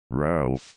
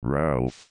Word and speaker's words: Ralph: In the Middle Ages it was usually spelled Ralph, but by the 17th century it was most commonly Rafe, reflecting the normal pronunciation.